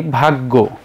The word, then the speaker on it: ভাগ্য: আমরা জানি যে জফলা যদি আসে কোন বর্ণের সাথে তাহলে সেটা দুইবার উচ্চারণ হয়। যেমন আমরা এখন যদি বলি কাব্য তাহলে আমাদেরকে লিখতে হবে কাব ব। দেখো এখানে ব কিন্তু আমরা দুইবার লিখেছি। আমরা এখন যদি বলি ভাগ্য তাহলে গ কিন্তু দুইবার বলতে হবে।